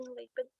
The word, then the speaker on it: Lapin: Yeah, Lapin, Lapin. Either way.